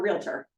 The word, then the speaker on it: realtor: you're not you're a realtor it's two syllables not three and it bugs me that people say realtor so I always think